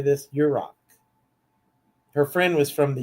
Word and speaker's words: Yurok: Yurok.